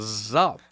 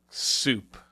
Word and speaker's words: Zup: thought that I mean you would think because like you see the word up yeah you say up yeah so if you put a z in front of it Z up yeah I say like